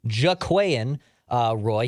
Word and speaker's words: Jaquelin Roy: it I'm sure over the next few months jaquian uh Roy he is not related to the Roy family